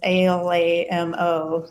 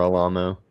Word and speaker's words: Alamo: So Alamo is spelled as Alamo. So like remember the Alamo. Remember Alamo? Yeah. Buenos dias, y'all. But it's pronounced Alamo.